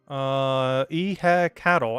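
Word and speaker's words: Ehecatl: Pronunciation. Cattle.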